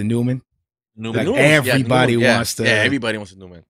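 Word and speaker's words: Neumann: about the standard one oh man that's how you say it the Newman know everybody yesterday everybody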